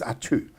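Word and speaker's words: Atiu: me, and I've never been to it, is Atu. Have you been? You actually pronounce that very well. A lot of people can't. It's spelled A-T-I-U, and it is pronounced Atu.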